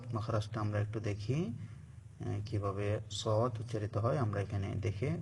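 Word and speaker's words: صاد: হচ্ছে একই মাখরাজ তবে সদ একটু মোটা হবে সিন যা চিকন ছিল এখন সদ মাখরাজটা আমরা একটু দেখি কিভাবে সদ উচ্চারিত হয় আমরা এখানে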